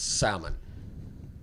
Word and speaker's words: salmon: No, it's salmon. You don't pronounce the L.